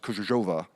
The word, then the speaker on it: Krzyżowa: And I've twice driven from Berlin to what was Kreisau and what Michał has told me is now pronounced Krzyżowa. Perfect pronunciation.